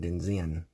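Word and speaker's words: Denxin: It says Wong Design, but it is spelt, I believe, D-E-N-X-I-N. Denzin is how they pronounce it.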